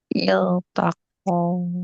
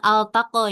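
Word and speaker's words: التقى: Iltaqo. Iya, iltaqo. Iltaq ya. Bukan altaqo ya.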